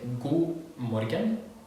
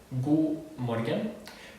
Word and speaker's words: god morgen: Pay real attention to the D here in go, because it's not pronounced but it's written. Okay, if you can listen, it's god morgen. You say go, but it's written with a D. So pay attention because it's not pronounced. It's going to come up in a lot of cases, especially here in this lesson. So pay attention to the D here because it's not pronounced in this word.